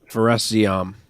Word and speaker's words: Fares Ziam: Fares Ziam.